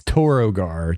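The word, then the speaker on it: Torogar: name like how do you say it it's toro gar t-o-r-o-g-a yeah you're right brett that's totally what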